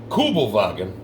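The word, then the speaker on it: Kübelwagen: rock Hobby type 82 kubelvagon as it's pronounced in German is on sale right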